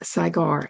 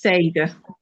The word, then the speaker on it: Sagar: My guest today is Saigar. Am I pronouncing that right? Saigar. It's Sager.